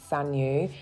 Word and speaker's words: Saneux: Please excuse me because Saneux is actually pronounced Saneux, and I proceeded to pronounce it incorrectly for the entire video.